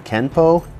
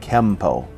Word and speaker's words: Kenpo: this would mean that kenpo is technically spelled with an n but should be pronounced with an m through romanization it is